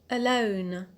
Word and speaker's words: alone: The next adjective is the adjective alone. Alone. So, as you can hear, the stress is on the alt, on lone, and we have applied rule 1A.